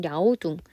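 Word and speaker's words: 辽东: 자, 이거를 우리 이제 교과서나 이런 데는 랴오둥, 중국어 원어 발음에 가깝게 랴오둥 반도라고 하는데요.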